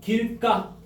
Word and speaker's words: 길가: 길까? 표기. 길가. 표기는 길가 발음은 길까.